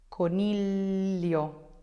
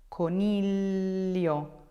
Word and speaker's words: coniglio: Famiglia, figlio, figlio, figlio, coniglio, coniglio, coniglio, luglio, luglio, luglio.